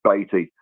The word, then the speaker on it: Beatty: But he's sending me over a Spurs away kit with written on the back, and the number 80 because it rhymes with Beatty.